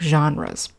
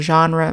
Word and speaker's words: genre: The pronunciation of the word genre might be a little bit strange to you because it's not an English word, it's a French word.